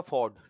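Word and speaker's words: fjord: अब आ गया आपका फॉर्ड, ठीक है, FORD। आई थिंक इसमें J साइलेंट हो जाता है।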